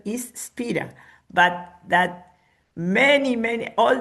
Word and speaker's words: Spira: that his original name, osea the the the pronunciation is Spira, but that many many all the English speaking people calls him Spider.